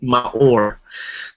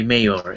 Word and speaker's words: Maor: My name is pronounced, by the way, Maor, but a lot of people mistake it by Mayor.